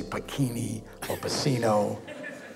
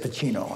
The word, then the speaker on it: Pacino: Someone pronounced my name right. They always used to say Pini orino. He said Pacino and I thought ok what happen?